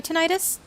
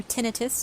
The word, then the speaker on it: tinnitus: It got very bad before I figured out what kind of triggers my tinnitus, or tinnitus, depending on how you want to pronounce it.